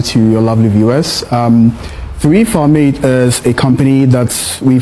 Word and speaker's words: 3Farmate: I was waiting for you to kindly teach me the correct pronunciation. How do you also say the the business name properly? Free Farm Made. Free Farm Made.